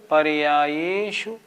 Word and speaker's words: पर्यायेषु: हमें जोर देना है पर्याय ये पे, शु पे नहीं। उच्चारण कैसे करेंगे? सर्वद्रव्य पर्यायेषु, पर्यायेषु, शु छोटा है ना, पर्यायेषु केवलस्य।